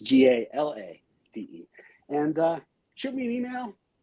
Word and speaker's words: Galade: A lot of people get my name wrong. They just add that, take out the A like the air freshener. So it's GALADE.